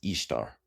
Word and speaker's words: Ishtar: Ishtar is not pronounced Easter. It's pronounced Ishtar.